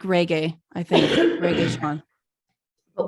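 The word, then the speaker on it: Regé-Jean: Reggae Sean. But when I think somebody said one time it's like pronounced like reggae.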